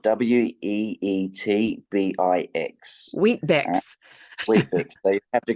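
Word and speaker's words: Weet-Bix: is a very Australian thing so it's called wheat biix it's spelled we TB IX wheat BX wheat so you have to go and do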